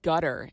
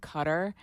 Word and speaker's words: Qatar: I always pronounce it Qatar. Yeah, it's Qatar or Qatar. I don't know, but it's not gutter. There's no G.